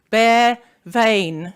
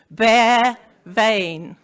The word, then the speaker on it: Bea Veayn: bare vein the other one is how to pronounce it which I have written there bear vein once again say after me bear vain great probably more importantly with regard to a